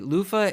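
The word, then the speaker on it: Luffa: Lofah Egyptiaaka is its scientific name. Lofah is spelled L U FFA and the shell of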